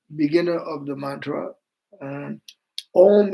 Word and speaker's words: om: Um om is one syllable uh and is constructed together three letters a u and ma a ma put together is.